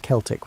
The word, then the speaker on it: Celtic: The Celtic peoples, and yes, we pronounce it Celtic when talking about these historical folks, not the basketball team pronunciation, occupied a vast swathe of Europe stretching from modern-day Turkey to the Atlantic Ocean.